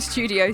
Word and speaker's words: Estúdio: Maro from Studio C. Am I saying it right? You are. If you're British, you'll say Studio C. Okay. But in Portuguese, studio. Studio is studio in Portuguese.